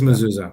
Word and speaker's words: Mazzulla: It is Mazzulla, yeah.